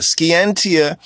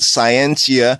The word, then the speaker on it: scientia: science means ski antia ski antia is a Latin word that symbol simply means knowledge ski antia in the ancient Latin Ski entia right scientia science yeah that's a more modern ox40 in pronunciation but in the ancient Latin Ski entia it means knowledge it means knowledge to